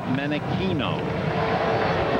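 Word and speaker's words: Menechino: You would think when you see the spelling of his name that it would be Menichino. After all, it's Chino, California. But he pronounces it Menichino.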